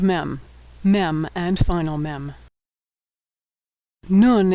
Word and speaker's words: nun: Nun is pronounced N as in November.